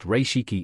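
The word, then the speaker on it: 零式: Type 0, pronounced Reishiki in Japanese, quickly shortened to Zero, in both Japanese and Allied usage.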